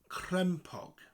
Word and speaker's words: crempog: So the word crempog. Crempog. Crem with a rolling R, crem and pog. Like those little discs you had as children in the 90s.